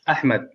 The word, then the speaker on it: Ahmed: it says okay ahmed actually it's ahmed but you can't pronounce that yes wow thank you so almost like a k there but not quite ahmed yes but with uh the intonation is more power so i'll let um